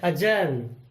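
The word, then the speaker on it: adjourn: तो इसको जे से पहले डी आया हुआ है, ये हो गया डी साइलेंट। हम डी को नहीं बोलेंगे, हम डी के बिना इसको बोलेंगे। ये बनेगा अजर्न, यानी कि स्थगित करना। अगला है अजॉइनिंग, मीन्स अगला।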